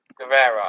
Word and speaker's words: Guevara: Guevara, I think it's pronounced.